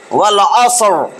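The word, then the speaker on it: والعصر: ওই যে পড়ায় কিন্তু দেখেন ওরা ঠিক মতনই পড়ায়, যারা জানবে না তারা কি করবে, ওয়াল আসরি, ওয়াল আসরি বলা যাবে না, ওয়াল আসর। এবং শেষের রটা মোটা, ওয়াল আসর, ওয়াল আসর, ওয়াল আসর, ওয়াল আসর।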